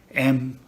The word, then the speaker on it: Mowgli: M-O-W-G-L-I.